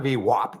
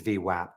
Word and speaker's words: VWAP: and so and and they said it is not vwap it's vwap by the way just